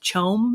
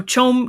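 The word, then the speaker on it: CHOAM: he's talking about the i think it's pronounced chome it's the acronym it's it's the corporate we talked about it's like the mega corporation yeah um so it says that so chum controls the spice is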